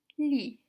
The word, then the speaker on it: lit: Lit means bed. It's written L-I-T. However, the T here is silent, so you would just say lit.